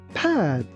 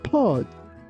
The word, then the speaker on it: pad: Here be careful not to pronounce this word like pod.